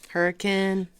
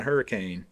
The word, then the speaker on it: Hurricane: Hurricane. Because outsiders would come in and say, well, I'm going to Hurricane. And then you would have to correct them and say, well, actually, honey, you're pronouncing it wrong.